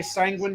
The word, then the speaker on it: sanguine: how to say sanguine I tend to say sanguine rhymes with penguin sanguine oh okay now how